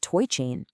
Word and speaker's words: TOI Chain: It's the very puzzle that Toy Chain, and that's to oi pronounced toy, was specifically designed to crack.